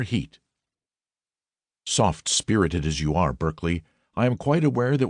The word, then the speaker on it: Berkeley: honorable Kirk Kudbright Eanover Major Bank Sellers Viccount Berkeley of Chanderlay Castle Warwickshshire pronounced Cubri Thin Landover Marshbank Sellers Viccount Barkley of Chumley Castle Warikshire.